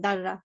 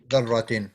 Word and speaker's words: ذرة: said, you it's pronounced darra, okay. ذرة. Yeah, ذرة. Yeah, So it it's means not pronounced particle. darra, it's darra.